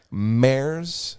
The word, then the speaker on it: Mare: It's called Mare's. Mare, Mare. Like the horse? Mare, like nightmare.